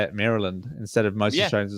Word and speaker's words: Maryland: like that no no it didn't actually sound Maryland Maryland Maryland no don't say land you're good I watch so much American content that I I yeah I'd say it Maryland instead of mostr say